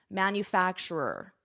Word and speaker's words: manufacturer: That's a tricky pronunciation, manufacturer.